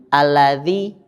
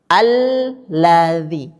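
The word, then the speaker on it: الَّذِي: Saya menemukan sering kalau baru mulai istiqomah, berusaha istiqomah, kata lamnya tidak ditekan. Jadi bunyinya alladzi. Harusnya cara membacanya al dulu baru ladzi. Nah, kan gini. Alladzi gitu.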